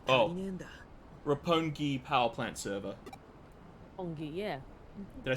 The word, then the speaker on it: Roppongi: Roppongi, yeah.